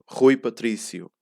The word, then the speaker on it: Rui Patrício: hear the unstressed parts so your biggest focus is really on pronouncing the stresses right and trying to hide a little bit trying to close a little bit the unstressed part so see how it